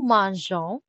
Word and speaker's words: mangeons: Nous mangeons. So we get an extra E to keep the soft G.